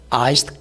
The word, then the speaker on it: iced: 그래서 영어로는 I want to get iced coffee 이래요. 아이스드인데 그 스하고 이하고 드가 합쳐지면 트 발음이 살짝이 나죠.